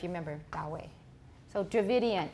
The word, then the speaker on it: Dravidian: to remember if you remember that way so Dravidian it's not related to the indo-european languages in